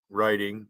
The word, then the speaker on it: Writing: because it's pronoun Reading Writing is pronounced with an R even though there's a w in front of it the English language it's